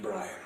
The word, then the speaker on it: Brian: It's pronounced Brian.